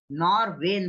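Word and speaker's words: Norwegian: नॉरवेन बोलते हैं इसको, NORVEI नॉरवेन, ठीक है। जी साइलेंट है उधर।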